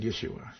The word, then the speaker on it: Yeshua: hebrew i am yeshua in greek it's jesus but he was speaking hebrew so he said yeshua so i think sometimes